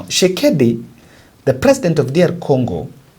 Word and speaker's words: Tshisekedi: know whether that she's, I think that T is silent now. Tshisekedi, the president of DR